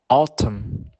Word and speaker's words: autumn: should talk next the letter N can be silent next to the letter M for example them him Autumn next the letter P